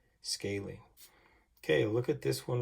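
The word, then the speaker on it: scalene: It's pronounced scaling. And so you would say that this one is a right scaling.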